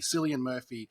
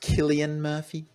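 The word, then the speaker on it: Cillian Murphy: Elliot pagee Tom Hardy selan Murphy Tom barer and Michael Kane uh I believe you'll find it's pronounced Killian Murphy uh I don't care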